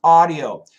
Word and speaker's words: audio: How to pronounce audio.